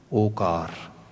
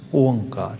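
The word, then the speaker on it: ਓਅੰਕਾਰ: ਦਾ words pronunciation, then we can only say okar, but we never pronounce like that. We pronounce it onkar.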